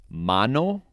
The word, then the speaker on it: mano: a first or la la makes the same sound as the english a in father okay an example of this is mano which means hand and agua water so it says ah mano agua next la a